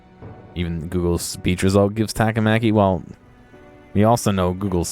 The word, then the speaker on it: Takamaki: She said Takamaki. The other guy says Takamaki. Takamaki. I didn't know at all. Right? She did. She said Takamaki-san. I'm saying it right.